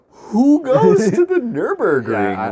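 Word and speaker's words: Nürburgring: also specs like nurburg oh man nurburgring i actually said it wrong it's in my mind wrong the nurburgring we should put a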